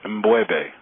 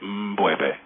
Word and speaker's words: M'Bwebe: Can you please pronounce your name for me correctly? Yes, it's Mbwebe. It's Mbwebe. Mbwebe. Yeah, there you go. Outstanding. Yeah. And can you pronounce your full name, sir? It's Mbwebe Aja Ishangi.